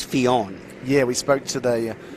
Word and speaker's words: Fionn: a bit of time trying to work out how to pronounce Fionn, and I looked it up, and I found it as Finn, but then I since found out it is Fionn.